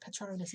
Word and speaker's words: Patronus: It's got there a bit about Patronus, which is the proper way to say it, Patronus, isn't it?